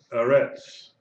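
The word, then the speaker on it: אֶרֶץ: Now, it's under the Aleph is a Segol. Under the Resh is a Segol. Eretz, Eretz, Eretz.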